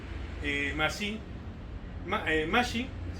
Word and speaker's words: Masiaj: Justo un amigo que está en Dubai, que es justamente ruso también, Mashi, Mashi, bueno, se escribe Masiaj, pero se dice Mashi, Mashi, que es justo el vicepresidente de la Modern Sword Fighting.